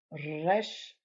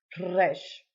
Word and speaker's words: Resh: Now, this one is difficult for Americans to pronounce, but you have to roll that R just like in Spanish or in Italian. No, you say in Italian, I speak Italian. Ragazza, ragazza, girl. Radio, radio. Now, I'm exaggerating a little bit, but that's the way you pronounce it.